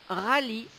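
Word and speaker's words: rallye: et parfois blanches un rally R a l l y e le E ne se prononce pas le rally est une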